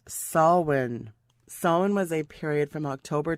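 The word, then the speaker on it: Samhain: ha a i n it's an Irish pronunciation pronounced swin was a period from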